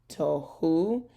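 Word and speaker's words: תֹהוּ: so it's hi ta to because our o sound is up here to tohu make sure that you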